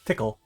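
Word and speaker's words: Tcl: pickle the programming language UCL pronounced tickle what is that error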